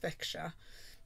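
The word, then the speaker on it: Växjö: was made bishop avaxio apparently it's pronounced veksha in sweden though his missionary journeys also took him into denmark he died in veksa in 1045 much revered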